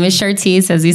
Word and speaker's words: Chartece: Chartece, there you go.